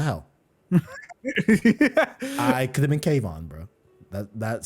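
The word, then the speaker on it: Keivonn: gonna pronounce his theme kayvon kayvon i think it's cave on woodward yeah kayvon yeah which hey that's a cool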